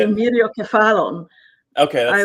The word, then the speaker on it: Myriokephalon: Myriokephalon.